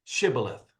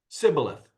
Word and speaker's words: shibboleth: they'd say to him, "You say Shibboleth." And he would say, "Sibboleth," for he could not pronounce it right. Then they would take him and kill him at the fords of the Jordan. There fell at that time 42,000 Ephraimites. So apparently the Ephraimites either had an accent or a speech impediment that did not allow them to say shibboleth. They would say sibboleth instead.